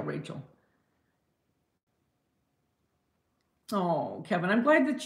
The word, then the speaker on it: Rachel: Is it Rachel? Am I saying it right, Rachel? Yeah, not Rochelle, Rachel.